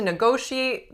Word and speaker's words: negotiate: negotiate they have to negotiate the details of the contract so let's look at our syllables na go she ate negotiate what is the winning syllable number two go negotiate any choise in